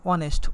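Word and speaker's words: honest: বাংলায় যদি উচ্চারণ করি অনেস্ট, অ দিয়ে শুরু হয়েছে।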